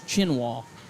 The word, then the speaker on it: Chinwa: I think it's how they wanted that one pronounced, was Chinwa.